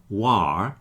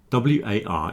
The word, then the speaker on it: war: So w a r is pronounced war to rhyme with for and door.